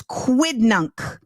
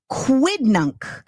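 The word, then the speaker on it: quidnunc: quidd nunk the word of the day is quid nunk quid nunk um quid nunk is an inquisitive or gossipy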